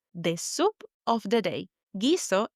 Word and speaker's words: guiso: Gizo is written G u I S O. And we know with the G or G. We don't pronounce the U. It's like it was written G I S O. We go straight to pronouncing the I. That's right. We're not saying guiso. No, we're saying giso.